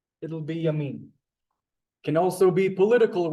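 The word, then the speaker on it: ימין: Yamin. That's perfect pronunciation.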